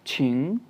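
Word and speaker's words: 请: अच्छा, जो वर्ड है QING थर्ड टोन के साथ, छिंग, छिंग, छिंग, छिंग कहते हैं प्लीज़ को।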